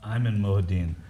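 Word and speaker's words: Ayman Mohyeldin: removal of the NBC reporter whose name is pronounced uh I'm in mudin uh that Iman mudin was removed from covering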